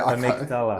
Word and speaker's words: amygdala: Amygdala. It's like yes. a 17th That's the language. You can say it better than me. I'm a native British speaker. For some reason, I wanted to say amygdala or something like that.